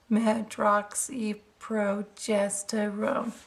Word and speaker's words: medroxyprogesterone: oxy progesterone tablets and it's pronounced medroxyprogesterone and that you as